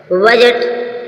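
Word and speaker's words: budget: आएगा D silent होगा बजट बजट मीस होता है लेखा जोखा या जी से पहले डी आया साइलेंट है बजट गर्ज गर्ज मीन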